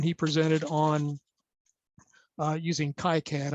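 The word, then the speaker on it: KiCad: presented on uh using ki-cad i've also heard it uh pronounced keycad which is a automation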